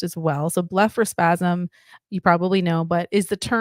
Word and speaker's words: blepharospasm: And that's apparently how it's pronounced as well. So blepharospasm, you probably know, but is the term used to describe involuntary movements of the eyelids.